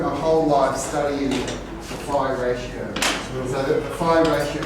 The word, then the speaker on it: phi: well, it's an F sound, but we pronounce it P-H-I. You know, like Philip, phi, phi.